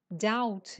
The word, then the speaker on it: doubt: his doubt yes doubt doubt yes you don't pronounce the b don't say dou no doubt doubt it means